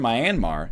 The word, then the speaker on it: Myanmar: you get the idea how's it pronounced it's not my anmar it's Myanmar me and ma ma general gist it doesn't mean mrs.